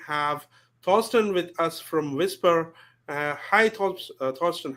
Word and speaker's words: Vispr: it of your two exactly like you said whisper okay so that's not